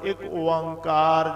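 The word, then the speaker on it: ਇਕ ਓਅੰਕਾਰ: भी इको ही है जिदा शुद्ध उच्चारण होवे एक ओंकार ज है अर्थ उ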